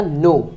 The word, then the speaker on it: know: सो इसमें क्या आएगा आपका KNOW, तो यहाँ पे जो के है वो है साइलेंट वर्ड, साइलेंट अल्फाबेट, तो आपका यहाँ पे आएगा नो, क्या, नो।